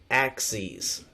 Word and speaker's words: axes: lines okay these number lines are actually called Act sees a x e e z you'll see that's the way that we pronounce it axes now so this kind of